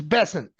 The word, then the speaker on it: Bessent: But Scott Bessent, am I pronouncing his name right? Like the new Treasury Secretary? Yeah, new Treasury Secretary, yeah. It's Bessent.